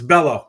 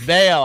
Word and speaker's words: Bello: It's Bellow. Brian Bellow is his name, by the way. No, it's Beo.